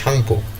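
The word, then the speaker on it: Tsangpo: Sangpo হবে এখানে T silent থাকবে। Sangpo pronunciationটা হবে Shangpo. In China known as Yerling Jangbo.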